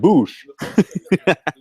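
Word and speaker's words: Busch: My last name is pronounced Bush. It's spelled B-U-S-C-H, like beer.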